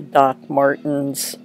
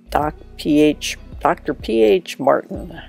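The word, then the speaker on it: Dr. Ph. Martin's: I've got a little bit more of the calligraphy ink from the Doc Martens. I always say it wrong. Dr. P.H. Martin. I guess that's what it is.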